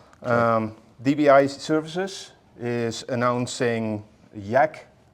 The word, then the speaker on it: YaK: DBI Services is announcing Yak do I pronounce that correctly 2.0 yeah correct um so before we dive into that uh new features and um everything that's going on with Yak could you start by